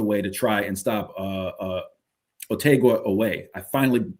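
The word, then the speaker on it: Otega Oweh: back the other way to try and stop Otegua Away. I finally pronounced his name correctly.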